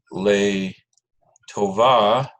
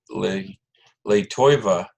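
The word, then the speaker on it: לטובה: the rest of the phrase is le tovah, but you'll often hear me say le toiva. That's a Ashkenazi accent, I think. It's not really the right way to say it, but it's just a habit I picked up.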